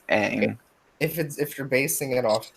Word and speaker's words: Aang: They literally pronounce Aang's name Ong. That's just wrong. Why would he pronounce it Ong when in the show it You're clearly says Aang?